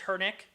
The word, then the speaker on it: Hernick: get into the show so it is hernik right your last name is hernick yeah that's how you pronounce it okay cool yeah i